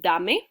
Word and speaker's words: dame: yes that's the one with the the key dame dame means give me i know it looks like dame and it is a word in english james but in spanish we would pronounce it dame dame means give me which is i think